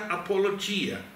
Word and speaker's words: apologia: É proposital que se que se pronuncia apologia, significa uma defesa verbal.